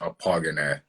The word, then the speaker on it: Akpoghene: your last name uh my last name is pronounced a pogonet so poggine oh